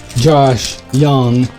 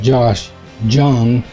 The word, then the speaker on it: Josh Jung: That's like Josh Young. When I first heard it, people were pronouncing it Josh Jung, and I kind of started saying that, and it's hard to break.